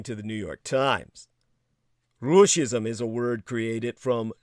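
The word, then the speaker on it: ruscism: invasion of ukraine now russia's is pronounced like the word fascism with an r instead of an f as the starting consonant it roughly translates to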